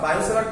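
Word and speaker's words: Biot–Savart: বায়ো-সেভার্টস ল টিটা হচ্ছে সাইলেন্ট থাকে, বায়ো-সেভার্টস ল এর ফর্মুলা ডিটেইলস জিনিস আশা করি তোমরা সবাই বোর্ডে করেছো।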